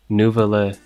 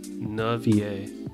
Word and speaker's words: Nouvelle: on like YouTube for how to pronounce it nouvelle not navier oh wait VA yeah